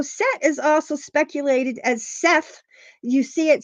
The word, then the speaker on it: Set: is also speculated as Seth you see it spelled s t but it's pronounce set as in set it on the table um they believe that